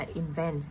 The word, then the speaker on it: invent: Sau đó là động từ chính là invent, nhấn vào trọng âm 2 nên mình sẽ gạch ở chữ invent.